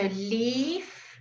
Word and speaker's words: leave: live in Johannesburg okay so leave live live live live live can you hear the difference now leave live okay good the EAA gives you a clue because it is lengthen okay then leave and